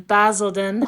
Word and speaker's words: Basildon: - Okay, they filmed this scene in Basildon Park in-- - (correcting pronunciation) Basildon!